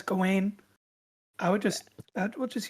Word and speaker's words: Gawain: a wonderful job but she was pronouncing it gowen so that's what threw me off maybe she likes rose